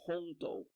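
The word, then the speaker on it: 空道: So hongdo. Okay, so in Cantonese it means hongdo, hongdo, right?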